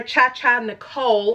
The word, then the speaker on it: Cha Cha Nicole: Cha Cha Nicole is how you pronounce her name.